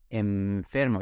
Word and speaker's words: enfermo: me suena raro porque yo no digo enfermo sino enfermo es una m no una n pero se escribe como